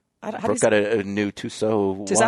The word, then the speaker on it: Tissot: Well, I was like, Brooke got a new Tissot watch. Is that how you say it, Tissot?